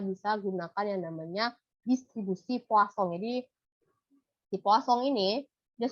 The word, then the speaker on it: Poisson: Ini tulisannya Poisson, tapi kalau bacanya orang Prancis ya, namanya Poisson ini orang ya, orang yang menemukan distribusi dan statistik ini kalau dalam bahasa Prancis ini kita sebut Poisson ya, tapi tulisannya Poisson.